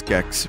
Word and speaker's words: Gex: was gex oh wait it is gex but you know what that rhymes with Chex Mix which was a